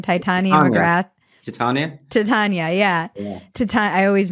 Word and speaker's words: Titania McGrath: Titania McGrath? Titania, yeah. I always mispronounce it.